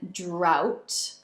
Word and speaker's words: drought: We have the sound ow, as in drought, la sequía, or plow, trabajar la tierra. En esta palabra, la G y la H son mudas y la O y la U suenan muy parecidas a la aula o audio de español.